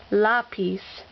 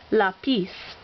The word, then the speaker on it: lápiz: but we want to say it with the emphasis on the first syllable. That means we have to write the accent. So therefore, this word is pronounced lápiz instead of its normal way of pronouncing lápiz.